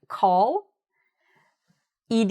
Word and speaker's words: called: So if you see a verb ending in an L sound, like call, ed then becomes pronounced like a d, called.